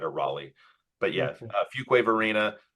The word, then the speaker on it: Fuquay-Varina: I went with Fuquay-Varina, which you told me it's actually Fuquay-Varina.